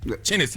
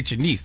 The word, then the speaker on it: Chennis: Chennis. I thought it just say Chenise. That's why I'm glad I looked it up. Chennis Barry.